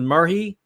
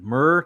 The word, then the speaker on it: myrrh: Now, maybe somebody would pronounce it as murhi. I wouldn't. It looks like myrrh to me. Myra, maybe.